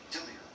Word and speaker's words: Delia: Yeah, well, I pronounce the E like an I, so Delia. Delia.